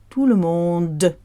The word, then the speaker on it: tout le monde: word is silent, but we have to say the D clearly. Tout le monde. Exaggerate it, because otherwise people often say tout le monde. It's a bit like saying all the world. No, it's all the world, and this is tout le monde.